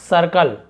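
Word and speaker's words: circle: भी हिस्सा हो जाएगा सर्कल सर्कल ठीक है सर्कल नहीं पढ़ेंगे सर्कल पढ़ेंगे क्योंकि आर है तो सा ए उच्चारण निकलता आईआर का जैसे बर्थ तो वहां पे आओ चार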